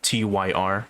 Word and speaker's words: Tyr: them uh once again their name is tier t-y-r or tyr as how you should pronounce it they've been around since